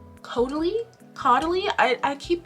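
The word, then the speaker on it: Caudalie: Going along with the skin care, um, I got the Kotier um, grape water coty. I think it's actually pronounced kodi.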